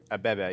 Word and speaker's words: Abebe: We got Abebe. Did I say it right? Abebe, yeah. Abebe. Yeah. It's like bebe.